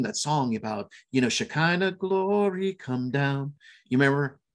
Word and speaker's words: Shekinah: In Hebrew, and the proper pronunciation of he in Hebrew is Shekinah, but in the West we call it the Shekinah glory of God.